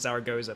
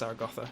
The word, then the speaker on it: Zaragoza: it in Spanish Zar gotha because the English pronunciation is Zaragoza but it's actually pronounced zarag gotha in Spanish which obviously is in the north